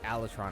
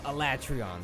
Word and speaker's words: Alatreon: I have a friend, she absolutely refuses to use anything but heavy bowgun to fight Alatron, I think. Or Alatreon, there you go.